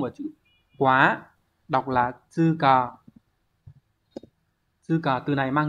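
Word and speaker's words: 通過: Đọc là tư cờ.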